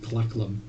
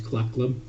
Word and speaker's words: Clackum: speaking deep speech but the easiest way to pronounce his name approximately would be clackum I'm reading the spell